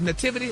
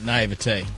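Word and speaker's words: naïveté: How you say it? Nativity or naivety? Naivete. Naivete.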